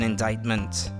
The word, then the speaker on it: indictment: indictment how do you say that actually pronunciation indictment in British English indictment okay why is the sea silent in indictment formally decide someone should be put on trial